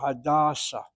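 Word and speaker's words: Hadassah: But somehow with the name, the proper name of a person, you hit the first syllable. Hadasa. The hospital is the second.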